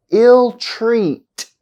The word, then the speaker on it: ill-treat: Compound adjectives and compound verbs have stress on the second part. Listen to the examples. Easygoing, easygoing. Ill-treat, ill-treat.